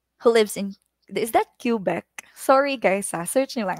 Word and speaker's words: Quebec: Ano ba yung pronunciation yan, oy? Quebec.